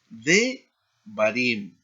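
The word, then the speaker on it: דְּבָרִים: Para el plural será de barim, ¿no? Aquí tenemos la reducción propretónica porque hay tres sílabas de barim, ¿no?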